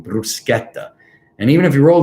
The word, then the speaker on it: bruschetta: so bruschetta bruschetta so you have to pronounce it with the r rolling bruschetta and even if you roll the r like i did bruschetta and you don't want to do that so bruschetta so anyway now um